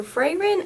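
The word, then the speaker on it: Frieren: frayron beyond journey's end so frairan i think is how you pronounce the name is the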